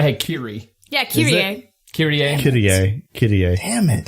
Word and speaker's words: Kirie: Kirie. Kirie. Damn it. I was so saying Kairi the entire time in my head.